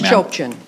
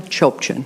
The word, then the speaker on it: Chopchian: It's Chopchin. It's fine. How do you say it? Chopchin. Chochin? Chopchin. Okay, Yes.